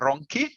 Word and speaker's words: Ronchi: in italian uh yes my last name is ronki yeah so it's very